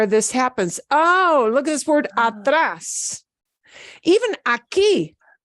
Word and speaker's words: aquí: Even aquí. Yeah, it's not pronounced aquí. That ends in a vowel. We don't say that word aquí, aquí, aquí, aquí.